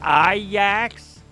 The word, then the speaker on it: Ajax: It's pronounced Ajax.